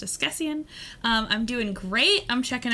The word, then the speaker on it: askesienne: This is pronounced Esquessian.